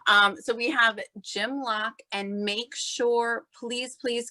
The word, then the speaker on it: Locke: and on facebook j-i-m-l-o-c-k-e and it's a silent e as a former teacher i'm big on the silent e so i appreciate that um so we have jim lock and make sure please